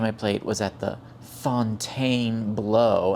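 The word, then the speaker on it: Fontainebleau: And yes, that is how it is pronounced. I don't know if any of you actually went uh to French 101, but it is not Fountain Blue by any stretch of, you know, linguistics, but that's neither here nor there.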